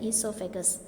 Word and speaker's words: esophagus: is called as what esophagus o is silent esophagus and these diagrams are